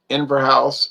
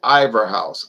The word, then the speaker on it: Inver House: Piper Dean, Highland Mist, Inver House, although Daniel Newman always says Ivor House, Ivor House. I say it's not Ivor. There's Inver, I-N-N-V-E-R, ver. Next syllable, house, 3 syllables, Inver House.